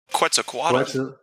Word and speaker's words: Quetzalcoatl: I don't know how to pronounce the name. Quetzalcoatl.